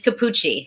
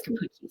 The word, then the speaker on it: Cappucci: it's Capucci. It's spelled like Capucci. cappuccino without the N-O, but it's Capucci.